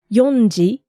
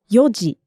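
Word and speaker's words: 四時: all of them right this Yoji was the tricky one it's not yonji but it's Yoji how did you find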